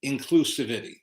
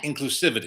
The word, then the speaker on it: inclusivity: And again, this expands our horizons, if you will, and is an example of true inclusivity. Yeah. Inclusivity. Yeah. Put the wrong emphasis syllable. on the wrong syllable.